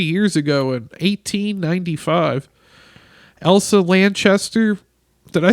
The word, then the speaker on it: Lanchester: I was about to say Lancaster like PA where the Amish are.